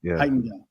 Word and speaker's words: Heitinga: Heitinga, I think that's how I pronounce his name. Johnny Heitinga, yeah. Heitinga.